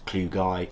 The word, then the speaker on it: klugii: Armadillidium klugi slano variant, also known as klugi or klugii. It doesn't matter how you pronounce it, I just say klugi.